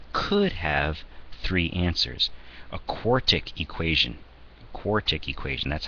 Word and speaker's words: quartic: A quartic equation, that's how you pronounce one with largest exponent is a 4, might have 1, 2, 3, 4 possible answers out of it.